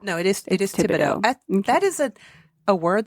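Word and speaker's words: Thibodeau: I believe you don't pronounce it. Thibido. No, it is it is Tibido.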